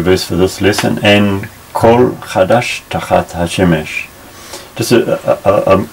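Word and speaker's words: כֹּל: This is normally a, so we'd say En kal chadash. But in some ways of pronouncing Hebrew, when it's between two consonants like this, it becomes O.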